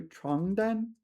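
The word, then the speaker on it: 床单: not to get here you need to really pay attention to your pronunciation because there's also 床单, 床单. This is bed sheets. 床单, 床单, and the other one was 传单, 传单, and they're completely different things, right?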